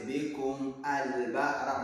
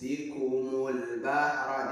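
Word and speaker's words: بِكُمُ الْبَحْرَ: Don't say bikum al bahra. No, it's bikumul bahra.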